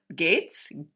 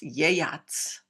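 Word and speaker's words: Geats: the eastern well some people will say what gates gates I've read from Tom Shippy that supposed to be pronounced yayats so the g my my old English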